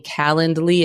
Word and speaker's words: Calendly: that you understand that I am saying calendly it's not spelled like calendar it's c a l